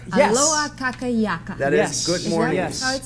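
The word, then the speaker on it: Aloha kakahiaka: So this is aloha kaka hiaka. Yes. Aloha kaka yaka. That is good morning. Yes. How it's spelled?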